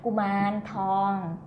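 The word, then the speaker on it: กุมารทอง: So here you see R, but the R, actually R in the end, is become N. So here, Kuman, and here is a R in the middle. R, T-O-R-N-G, Kuman Thong, okay?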